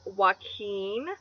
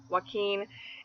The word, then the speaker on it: Joaquin: good Louise alternative because they're both the two syllable names with a stress on the second syllable Luis Joaquin and they both have